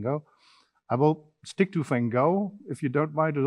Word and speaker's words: Gogh: Vincent, it's Gogh in Dutch, which is absolutely impossible to pronounce for many other people.